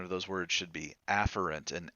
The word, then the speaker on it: afferent: Technically, the pronunciation of those words should be afferent and efferent, but that's so close together, I